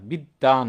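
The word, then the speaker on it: বিদ্বান: বানানটা বিদান বলি না বিদ্দান বলি বিদ্যান কেন কারণ দটা আমরা দুইবার উচ্চারণ করি বিশ্ব বলি না বিশ্ব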